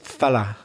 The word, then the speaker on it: fellow: a lovely fellow yeah the very interesting way craig pronounced the word fellow there he said it the formal way but a lot of people would pronounce it fella wouldn't they especially in the north of england yeah i met this fella with this fella and they might even write it f-e-l-a to show that they're being informal